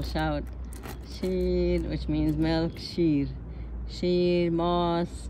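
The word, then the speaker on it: ماست: you know they'll shout which means milk cheese moss moss is yogurt Moss it's actually m-a-s-t most but we don't pronounce the tea we just say Moss um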